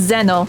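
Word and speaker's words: Xeno: They made it where it's pronounced Zeno, not Zeno.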